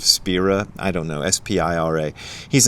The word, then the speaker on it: Spira: it was muho said he thinks that the guy's name should be pronounced spyra instead of Spira I don't know s-p-i-r-a